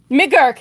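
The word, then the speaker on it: McGuirk: McGurk. Thank you. I always get his name wrong.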